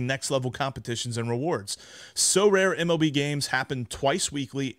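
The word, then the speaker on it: Sorare: cards and accessing Next Level competitions and rewards so rare MLB games happen twice weekly and span a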